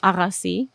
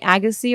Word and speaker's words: Agassi: um uh amar meaning so the armenian like real authentic version of the pronunciation is arasi but you know americans um call me agassi or agassi i think agassi sounds more closer to the original right yeah well there's